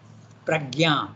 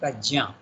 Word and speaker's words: Prajna: In our Indian languages it is Yajna, we say. Pragya, we say. But actually the name is Sanskrit, so you have to pronounce it Prajna.